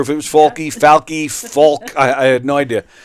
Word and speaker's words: Falke: the bat f a k how do you pronounce that that's faly faly yes okay I wasn't sure if it was faly faly folk I I had no idea so I I